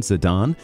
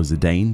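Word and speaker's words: Zidane: from Final Fantasy 9 zadan or zadane depending on which which Camp you come from on pronunciation and it says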